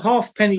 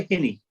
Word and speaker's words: halfpenny: Yeah, well, a halfpenny was the correct pronunciation. We used to refer to it, as you would say as a Geordie, a halfpenny. A hinny. A halfpenny, not a hinny.